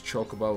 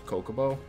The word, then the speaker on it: Chocobo: of things weird like i used to pronounce chocobo was kokobo i don't know why i just decided that h doesn't exist in the beginning um i don't know